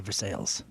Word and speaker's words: Versailles: I think there's a Versailles in central Missouri, too. And they say for sales.